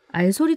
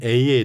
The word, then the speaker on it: Al: 대표 이시기도 해요 네네네 알소 도서관이라고 읽어야 될까요 아니면 Al이라고 읽어야 할까요 많은 분들이 그것 때문에 헷갈려 하시더라고요 그래서 원래는 는 Al 이고요 그래서 바운딩 러브에 앞에 철자를 따서 Al 해서 읽게 됐고요 시각장애인 기독교 전문 도서관입니다